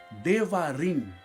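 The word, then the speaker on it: דברים: deuteronômio o deu trinômio ele em hebraico se pronuncia devagarim devagarim em hebraico então deuteronômio odevar em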